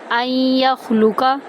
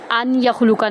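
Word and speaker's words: أَنْ يَخْلُقَ: इसीलिए हम हमजा को या के अंदर दाखिल करेंगे ना कि नून में। ठीक है? अन या खुलूका नहीं पढ़ेंगे।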